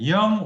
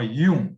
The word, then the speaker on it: Jung: And psychoanalytic center theory is Carl Gustav Jung, and Jung or Jung, Jung in German pronunciation and Jung in English.